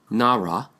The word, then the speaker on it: narra: the special low fearwood naira in Tagalog Filipino pronunciation Nara is the very same as the Hebrew word Nara coincidence we do not